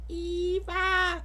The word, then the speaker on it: EVE: okay never mind but even as a kid I know her name is pronounced Eve cuz huh get it Adam and Eve just like in the Bible but Wally pronounced it as Eva so I thought it